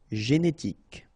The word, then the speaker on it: génétique: Génétique. Coupable. Final not pronounced.